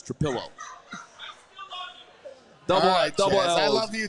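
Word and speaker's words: Trapilo: It's Trapillo. Trapillo. Mia Mario. Yeah, one L. Brags. I'm sorry. What does that mean? That means it's not Trailo. It's Trapillo.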